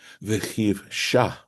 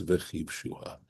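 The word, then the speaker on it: וְכִבְשֻׁהָ: Vechiv, so it looks as if it could be vechiv shah, right? But it is pronounced. It is. The tradition is to pronounce this word as vechiv shua.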